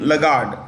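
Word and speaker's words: Lagarde: European Central bank's um president is um Christine lagard Christine lagard l a g r d e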